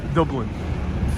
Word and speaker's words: Dublin: michael says dublin yes we all pronounce dublin a little bit more irish dublin indeed indeed that's how you say it all right let's